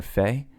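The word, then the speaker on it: פ: Pei has a couple different sounds. You have a harder Pei, then you have a softer Fei, and then Pei is one of those 5 sophit letters that show up. If they show up at the end of a word, they change their sound.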